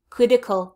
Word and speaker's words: critical: critical quit quit critical remember my American English pronunciation that T becomes a D in my mouth so I don't say critical crypt predict 'l i sacred critical critical critical urgent critically and